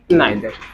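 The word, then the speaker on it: neither: Distributive adjective, इसमें आपको 4 words basically पढ़ना होता है, ईच, एवरी, आइदर, नाइदर। इसको नीदर भी बोलते हैं, सबके प्रोनाउंसिएशन अपनी अलग अलग होती है।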